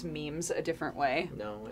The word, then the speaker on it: meme: But so I had never when I heard it later, I heard meme. But anyway, sorry, go ahead. So I was telling everybody that when I was in college, everyone pronounced it Mimi when like the term became like popularized.